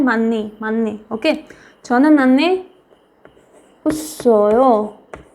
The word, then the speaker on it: 많이: आपको पता है हियत जो है सबसे ज़्यादा कमज़ोर है, उसके आगे साइलेंट है तो भी वो उससे हार जाता है, ओके, तो इसका साउंड होता ही नहीं ग्रेट, तो ये क्या बनेगा, मन्नी, मन्नी, मन्नी, मन ई मनी, ओके।